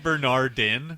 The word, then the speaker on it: Bernardin: Well, then Bernard is going to get some more Twitter tweets. You're missing the last syllable of his last name, though. It's Bernardin.